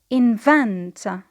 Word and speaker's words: invent: The next word is to invent. Invent. It means to discover or to create. The same here, because it is a verb, the stress is on the second syllable.